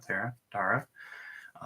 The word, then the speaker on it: Tara: I think it's pronounced Tara, right? Not Tara.